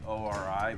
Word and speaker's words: ORI: And I think Ory pronounces their company O R I.